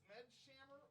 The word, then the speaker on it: Smedshammer: Is it Smedshammer? It's Smed's hammer. Smed's hammer. Singular.